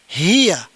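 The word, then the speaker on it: هي: Kemudian yang ini dibaca hiya.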